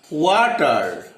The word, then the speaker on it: water: আমরা যেটা পড়ব সেটা হচ্ছে ওয়াটার, কিন্তু উচ্চারণটা ওয়াটার, আরটা করবে না, ওয়াটা, ওয়াটার, ওয়াটার।